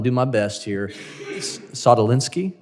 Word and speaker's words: Sadulski: My last name, is often mispronounced. So I'm going to do my best here. Sadulski? Sadulski, sir.